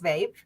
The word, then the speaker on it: VAEP: so it's an acronym and uh you can pronounce it is Vape uh and I do have dyslexia so it